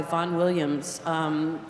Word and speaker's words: Vaughan Williams: First on the program is a work by Vaughan Williams. If you look in the program, it looks like Ralph, but he liked it pronounced Rafe.